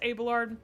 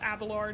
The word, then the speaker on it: Abelard: It's Abelard. It's not Abalard or whatever.